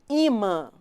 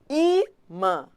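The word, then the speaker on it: ímã: A mais forte é o I. Imã, não é imã, é imã.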